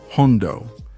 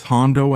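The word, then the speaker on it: jondo: But because many Andelucians pronounce that initial H with such a strong aspiration, the word ended up sounding as if it had a J.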